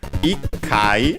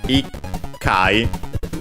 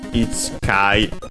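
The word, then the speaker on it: 一回: the number 1, and the final syllable, the chi, tsu, becomes small tsu and doubles the following consonant, ikai, because of course it's much easier to pronounce than ichkai o anche ichkai.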